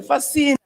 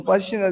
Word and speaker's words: Fashina: I travel and see Oyibos, and I say, Fascina. So, and I was beginning to wonder whether it's actually to Professor Fashina they're talking, and they say, Fascina. So, you know, the way they pronounce it.